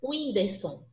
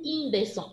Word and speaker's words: Whindersson: Estão vendo aí que é um Wzinho o som? Enquanto no I é um Y. Por exemplo, na palavra Whindersson. O Whindersson.